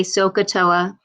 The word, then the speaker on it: SOHCAHTOA: there's a little saying it's called sohcahtoa you'll hear me say sokatoa and i'll tell you